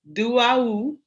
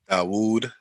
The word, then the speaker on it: Dawoud: We have our brother Ali Duawu. That's it, right? No. Nah, you ain't say it right. Always tell Ali Dawoud.